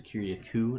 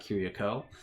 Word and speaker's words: Kyriakou: It is Kyriakou, not Kyriakou.